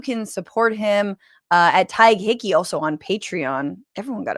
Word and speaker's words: Tadhg Hickey: His name is Ty Hickeyi. Please welcome. Hi, Francesca. How's it going? Um it's good. Thank you. You're pronouncing my name so beautifully, man.